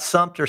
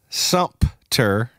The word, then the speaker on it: Sumter: how to pronounce it well it's Sumter but there's no pee in it people are people people think it's Sumpter you know they're like I'm like well there is something but it's sum t-e-r so Sumter but we